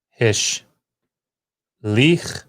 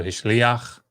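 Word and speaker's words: הִשְׁלִיחַ: it being hish lich, because you have this guttural letter and it wants to have some sort of pronunciation, you get your furtive patach, so hishliach, hishliach.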